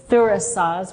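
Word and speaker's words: Thurisaz: The third rune is Thurasaz, which is the rune itself, the pronunciation is with the TH sound, and it looks like a thorn, and it means thorn.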